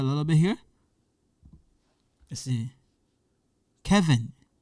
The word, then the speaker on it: Kevin: Kevin, Kevin. This part, English part. Kevin, Kevin. Okay? But in French, the pronunciation is different. In French, we say Kevin, Kevin.